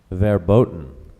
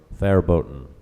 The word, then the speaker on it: verboten: o us ostentatious that's correct speller number 24 their boat or their boat can you repeat the word their boat can